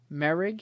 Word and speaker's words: Moehrig: Every time I look at his name, I want to say Moehrig, but it's Trevon Moehrig.